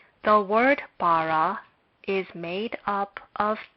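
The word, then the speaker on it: בָּרָא: Therefore, this is a consonant, but we will consider it to be silent and it will not be pronounced. The word bara is made up of 2 syllables.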